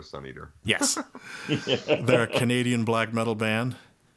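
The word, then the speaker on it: Svneatr: And Sun Eater, which is spelled S-V-N-E-A-T-R. The album is The Howl, The Whisper, and The Hunt. That's the vanity license plate spelling for Sun Eater.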